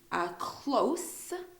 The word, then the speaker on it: close: The first one, close, has a lot of emphasis on the S sound.